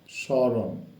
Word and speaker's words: স্মরণ: পদের আদ্য ব্যঞ্জন বর্ণে ম ফলা সংযুক্ত হলে সাধারণত তার কোন উচ্চারণ হয় না তবে ম ফলা যুক্ত